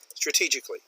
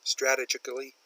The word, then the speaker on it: strategically: it's positioned strategic Ally strategically she pronounces this a little oddly strategically she gets the emphasis on the wrong syllable strategically Korea has very